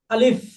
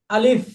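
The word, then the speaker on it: ألف: উচ্চারণ যখন হবে আলিফ এই আলিফ বলতে কোন টান হবে না কিন্তু এই শেষে এই মুখের মাঝখান থেকে একটা বাতাস হালকা করে বের হয়ে যাবে আলিফ আমার দিকে খেয়াল করেন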